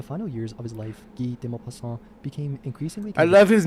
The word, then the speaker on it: Guy de Maupassant: I love his name, Guy de Maupassant. Guy de Maupassant. I don't speak French very well. Guy de Maupassant. And it's spelled like Guy, but it's Guy.